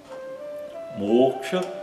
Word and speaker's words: moksha: Moksha é a libertação espiritual, é conseguir ultrapassar o ciclo de renascimentos, o samsara. Moksha. Então, o fechado longo, né, e o a curto no final. Moksha.